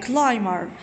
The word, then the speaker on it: climber: But the artist, the rock climber, look at this word, climber. It'll be silent. We don't pronounce it.